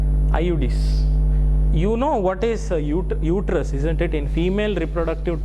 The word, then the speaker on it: uterus: Okay, pronunciation you see, it is not uterus. Okay, some people say uterus. It is uterus, it is pronounced, or else it is called womb of.